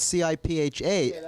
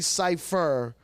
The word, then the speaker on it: Cipha: So people call me Cipha. I hate that. It's cipher.